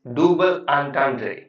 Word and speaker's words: double entendre: The correct pronunciation of this idiom is double entendre.